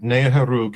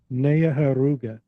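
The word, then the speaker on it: Neoheroka: Okay, very good. Naharug is how we say it. But that's that's extremely good for me. Neoher. Neaharuga.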